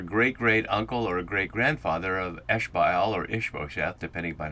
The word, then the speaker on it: Ishbaal: But in either event, he's either a great-great-uncle or a great-grandfather of Ishbaal or Ishbosheth, depending upon how we pronounce that.